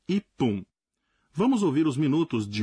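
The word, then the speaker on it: 一分: Mas aqui o caso é um pouco mais complicado, porque metade dos números mudam a pronúncia, de fun para pun. 1 minuto, por exemplo, em japonês fica ippun.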